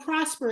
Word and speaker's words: Prospre: Called Prosper. It's spelled Prospre.